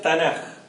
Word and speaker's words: Tanakh: Tanakh, y se pronuncia Tanaj.